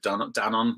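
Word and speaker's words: Danone: a french group called dunon which i think is quite big in the states as well the dairy pro you may pronounce it down on or oh yeah so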